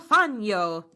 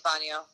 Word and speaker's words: Fangio: I mean, it could go a couple different ways since it's a G. Like, it could have an H sound. It could have a Y sound like you're pronouncing it. It could have a soft G sound like Fangio. But that would be unusual. But yeah, I think Fangio is fine.